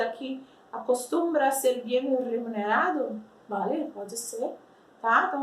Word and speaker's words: remunerado: Então, assim, como que a gente pronuncia remunerado em espanhol? Olha o R, olha o som do R no começo da palavra, como é forte.